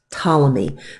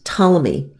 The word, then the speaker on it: Ptolemy: the heavens was an Egyptian astronomer named Claudius Ptolemy the P is silent so Claudius Ptolemy looked at all of the data from the